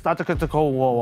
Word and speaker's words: Antetokounmpo: Is it A, Damian Lillard, or B, Giannis Antetokounmpo?